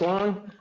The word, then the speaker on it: Wang: Good evening, Wang, pronounced Wang.